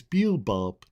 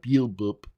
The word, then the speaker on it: Beelzebub: It's Beelzebub, not Beelzebub. You always get my name wrong.